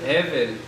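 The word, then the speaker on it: Hevel: Evel, se escribe con H, así, Evel.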